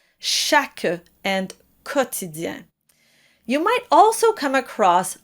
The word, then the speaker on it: quotidien: In both cases, be sure to pronounce the Q U as a K sound, chaque and quotidien.